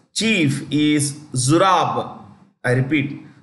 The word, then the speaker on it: Zurab: And its chief is Zurab. I repeat, Zurab. Z-U-R-A-B. Zurab. Zurab. Pololikashvili. I'll spell it for you.